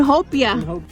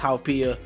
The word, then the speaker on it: haupia: And hopia. It's actually pronounced haupia. It's different from the hopia, the Filipino dessert.